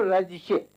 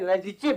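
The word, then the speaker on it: Radice: अनुवाद किया है विलियम रजिशे, हालांकि स्पेलिंग CE है लास्ट में, लेकिन इनसे चूंकि मैं मिल चुका हूँ जर्मनी में, तो जब मैं रजिशे बोलता था तो कहते थे नहीं रजिचे बोलिए, कहना मेरा नाम।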